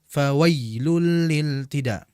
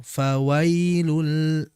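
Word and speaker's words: فويل: Jangan kita membacanya fawailul lilid. Akan tapi dengan menaikkan tengah lidah pelan-pelan. Fawailu fawailu fawailul.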